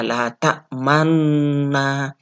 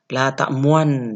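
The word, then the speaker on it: لا تأمنّا: dipakai adalah la ta'manna kesalahannya yang sering terjadi di teman-teman saya yang baca atau kadang yang belajar ke saya itu adalah membacanya lah tak mau lah tak muan Nah itu salah dan Bukankah tak moana karena Tanda itu adalah ismam adalah untuk non nya ya banyak yang membacanya letak moana yang dimunculkan adalah Meme yang padahal yang benar yang dimunculkan adalah pada Hai penontonnya ya Jadi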